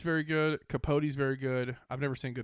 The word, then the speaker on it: Capote: Capote, yeah.